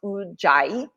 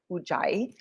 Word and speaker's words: Ujjayi: So ocean breath is also known, well, it is Ujjayi pranayama in Sanskrit, and it's pronounced Ujjayi, Ujjayi.